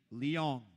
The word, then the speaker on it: Leong: by complexity drewy that it is actually Leong like with an l no no no I'm